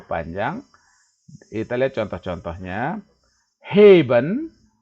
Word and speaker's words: heben: Heben, heben, E-nya ini panjang, heben.